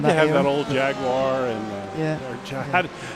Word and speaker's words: Jaguar: that old Jaguar and James makes fun of the way I say that. How do you say Jag? Jaguar. Jaguar. Okay. Yeah. I'm way off. Extra syllable.